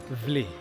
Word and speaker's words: Wli: So upon doing some research, I found out that the name Wli, pronounced Vlee, V-L-E-E, Vlee, located in Hohoi, which is in the Volta region, land of obviously the Ewes.